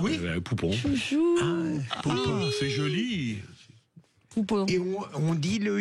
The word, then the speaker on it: Pupponi: bonsoirons fr même franis pupon j'y fait j'essaie de de travailler mon accent c'est pas toujours facile sal en fait on dit poup parce que en Corse le U se prononce ou c'est je je je